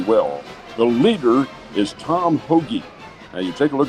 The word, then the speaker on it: Hoge: The leader is Tom Hoge. Now, you take a look at the last name, and it's H-O-G-E. Looks like it would be Hoge or Houge, but it's pronounced Hoge.